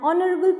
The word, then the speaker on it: honorable: is an exception here use and before silent h so an is used before a vowel or vowel sound for example an honorable person an honest boy